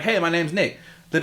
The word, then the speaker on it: Nick: Bro, do you know how many times people have mistaken me saying my name as Nate? It's surprising how many times? A lot. A So much so that I have to overanunciate the K.